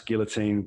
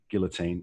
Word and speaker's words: guillotine: you're by the way if you're british you pronounce guillotine with the l guillotine and if you're american